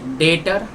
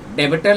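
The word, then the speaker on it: debtor: बच्चों हमारा नेक्स्ट है डेटर डेबिटर लिखा है बच्चों लेकिन इसको कैसे प्रोनाउंस करेंगे डेटर इसको सनरी डेटर भी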